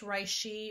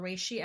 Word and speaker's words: reishi: coconut palm sugar organic I think it's pronounced rice XI or reishi extract organic cinnamon organic